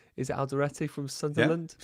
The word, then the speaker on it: Alderete: It's more like Alderete. That's how you say it, mate.